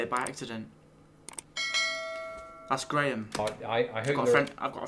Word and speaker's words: Graham: I hope I've got a friend called Graham. some people call Graham watching because it's most decidedly in my pronunciation Graham, not Yes. Graham. Graham. Graham. Graham. All one vowel Yeah. when you do it, isn't it?